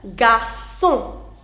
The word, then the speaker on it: garçon: it is pronounced as garçon. Garçon. Now, look at this combination. CO. Now, what did I tell you in the previous slide? I told you CO is Ko. So this is right now garçon.